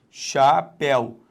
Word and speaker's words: chapeuzinho: Repare, chapeuzinho. Deixa só o tio beber um golinho de água aqui, já vou beber, quando eu chegar lá eu bebo, é melhor. Zinho. Então a sílaba tônica é o zi.